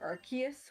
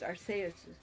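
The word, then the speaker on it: Arceus: um arus I know a lot of people pronounce it archus with the hard SE um I've always said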